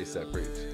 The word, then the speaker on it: ASAP Preach: ASAP Preach? Yeah, ASAP Preach.